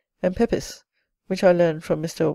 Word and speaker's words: Pepys: The diarist undoubtedly pronounced it Pepys, and the lineal descendants of his sister Paulina, the family of Pepys Cockerell, pronounce it so to this day.